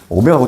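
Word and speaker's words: ω: 오메가 세제곱, W라고 읽지 말고 제발. 어디 가서. 오메가하고 W하고 달라.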